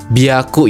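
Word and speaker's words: びゃく: 300 itu bukan pakai Hiyaku, tapi dia pakainya biaku ya.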